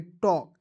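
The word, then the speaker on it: talk: important है देखेंगे दोस्तों के से पहले जब एल आएगा ना जी तो एल को साइलेंट रख लीजिएगा ठीक है जैसे यहां पर देखिएगा बहुत इंपोर्टेंट है टी ए एल के तो टी ए एल के को ट टलक नहीं पढ़िए इसे पढ़ेंगे टॉक क्यों क्योंकि यहां देखिए एल को यहां प मैंने साइलेंट कर दिया ठीक है उसी प्रकार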